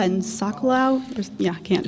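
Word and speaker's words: Socolow: Uh Pala and Sakalo, that's pronounced right.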